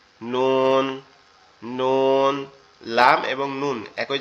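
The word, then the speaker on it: نون: জিহ্বার আগা উপরের তালুর সঙ্গে লাগবে, লেগে উচ্চারিত হবে নুন।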